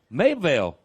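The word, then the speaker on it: Mabelvale: Mableville.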